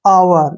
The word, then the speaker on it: hour: जब भी H के बाद O आता है तो H का जो हमने प्रोनाउंस है, जो उच्चारण है H का नहीं करना है।